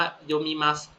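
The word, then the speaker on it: 読む: ถัด มา คำ ว่า โยมัส อัน นี้ คันจิ นะ โยมัส แปล ว่า อ่าน นะ ครับ โยะ อ่าน ว่า โยะ นะ ครับ ตัว นี้ โยมุ โยมุ นะ รูป โพจนานุกรม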